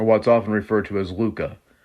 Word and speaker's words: LHUCA: There's the Louise Hopkins Underwood Center for the Arts, or what's often referred to as LUCA. It's spelled LHUCA, pronounced Luca.